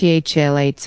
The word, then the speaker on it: phthalates: referred to as plasticizers phthalates pronounced thalates are widely used in